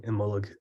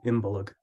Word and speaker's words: Imbolc: And that's kind of where the word, you would find a lot of modern Irish speakers using Imbolc as their pronunciation, but you will find other people saying Imbolc.